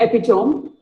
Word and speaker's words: epitome: It is not epitome. It is epitome. Epitome.